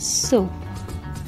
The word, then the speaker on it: sew: We pronounce this word so, not sew, soap. Similarly, it sounds similar like so, the word so, soap.